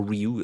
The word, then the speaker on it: Ryu: Ryu, or Ryu as it should be pronounced, but it's always going to be Ryu for me.